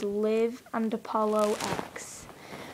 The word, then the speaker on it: Liv and Apollo X: By the way, the name pronunciation is Liv and Apollo X.